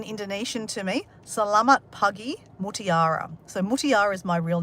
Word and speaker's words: Mutiara: Mutiara is how you say my name or spell my name.